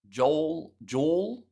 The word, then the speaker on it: Joel: Joel rhymes with Maul. Joel.